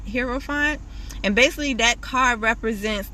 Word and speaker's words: Hierophant: read the card but i believe it's pronounced the hearer font hero font and basically that card